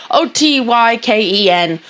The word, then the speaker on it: Otyken: And it's to pronounce it like oat and otyken. Then you. K-E-N, yeah. Otyken. Like Hadouken.